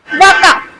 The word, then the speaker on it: vaca: Vaca.